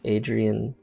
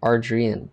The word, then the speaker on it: Arrian: realized yeah I am it's arrian not Adrian it's sort of like bar beein bear bears and Bernstein Bears you know what I